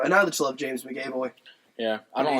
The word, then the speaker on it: McAvoy: And I just love James McAvoy. Yeah. I don't like the way you said his last name. How do you say it? Is it not McAvoy? Is it M-A-C? It's M-C. Okay, McAvoy. McAvoy.